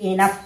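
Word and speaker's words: enough: इस प्रकार देखिए इ एन ओ यू जी एच इसे एनफ पढ़ेंगे। यहां ओ साइलेंट है।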